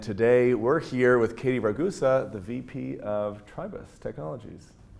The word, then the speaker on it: Ragusa: My name is Findlay-Shirras, and today we're here with Katie Ragusa, the VP of Tribus Technologies. Did I pronounce that correctly? Yeah, VP you got Product Ragusa, right? Ragusa.